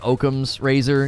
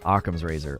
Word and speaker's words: Occam's razor: in the book you could think it's like okum's razor yeah yeah occam's razor i'm fairly certain that's how you pronounce it it's named after um was he